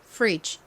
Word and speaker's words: fridge: 읽으면 될지 생각해 보세요 가장 앞에 F 왔죠 이렇게가 단어에 앞에 오면 세게 된 소리처럼 프 소리가납니다 한국식으로는 보통 프라고 표기하지만 실제 발음은 세게 발음이 되죠 그리고 뒷부분은 저희가 앞서서 봤던 다리라는 의미의 Bridge의 철자와 동일합니다 어떻게 읽으면 될까요은 릴 소리 나고 아는 e 소리 나고요 끝에 D는 g 소리 나죠 그래서 발음해 보면 fridge 됩니다 따라해 보세요 fridge 프 프